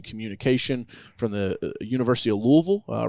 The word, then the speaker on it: Louisville: Uh is it it l and I was like Louisville? She's like Louisville. I said no Louisville. It's it's all one syllable, you know.